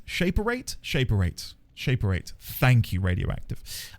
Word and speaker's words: Shaperate: Um, it's pronounced shape erate. Shaperate.